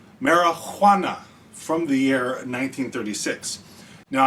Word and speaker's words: Marihuana: Now, I'm really enunciating the Juana in the marijuana because this movie was made before the invention of the letter J, I suppose, because it's spelled with an H.